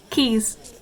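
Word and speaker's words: Caius: they first come here keys short for gone villain keys it's situated right next to the senate house and often features in tourist photos and no one pronounces it right until they hear it for the first time natsuki this is a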